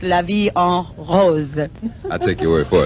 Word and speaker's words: La Vie en Rose: you know so for those who might say la vie on rose or um anything like that it's la vie en rose i'll take your word for it you you've